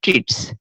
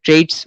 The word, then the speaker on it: Treitz: Suspensory ligament of the duodenum বা ligament of ট্রিটস। ঠিক আছে, লিগামেন্ট অফ ট্রিটস। ট্রিটস বানানটা দেখেন TREITZ। ঠিক আছে, লিগামেন্ট অফ ট্রিটস, বা অনেকে ট্রেডস উচ্চারণ করে, সেটাও আপনারা উচ্চারণ করতে পারেন।